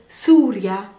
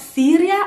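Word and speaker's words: سوريا: on the list is surya and you probably have guessed it's not syria it's very easy surya now surya is particular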